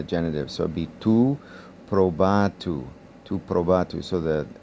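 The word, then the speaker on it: προβάτου: over 3 syllables, but as soon as this becomes the diphthong omicron upsilon in the genitive, tu probatu, then that kind of yanks over the accent. The stress has to be now over the second syllable, probatu.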